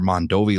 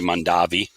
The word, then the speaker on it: Mondovi: show and get to learn more about your Mondovi line which I've been watching on your YouTube